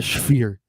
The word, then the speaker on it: Sphere: Unless you can get in the Spear, but I don't think they can.